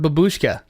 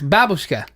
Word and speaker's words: babushka: So, like the word babushka, which means grandmother, all Americans pronounce it that way, but it's not that way. It's babushka. Babushka. Yeah, so they're like really strong on the first syllable a lot of times.